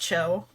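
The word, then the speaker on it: Qiu: Uh or that that that Qi U is pronounced Cho.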